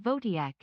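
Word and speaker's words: Wojtek: His name was Voytech, pronounced Vodiac. It's Polish.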